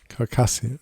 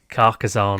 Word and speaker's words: Carcassonne: Carcassian. No, it's not Carcassian. Carcassonne. Carcassonne.